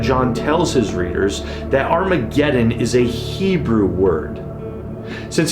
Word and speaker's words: Armageddon: magenta that is Armageddon there's no H in the Greek alphabet so John is spelling this word in Greek in a way that would cause them to insert an H sound at the beginning of this word now in Hebrew har